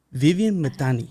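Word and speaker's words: Viviane Mithani: hard to pronounce it can you can you pronounce your name please yes it's Vivian uh matani Vivian matani yes but my maiden name is okay okay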